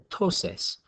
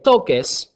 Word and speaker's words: toques: comes after a C, technically that C is pronounced like an S. So this would be read toses. But because we want it to say toques, we have to change the C to a QU.